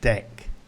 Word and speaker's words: deque: the start, so that's deque. Looks like de-que, we use it for queues, but it's pronounced 'deck'.